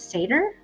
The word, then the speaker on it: satyr: It says you're supposed to pronounce it satyr.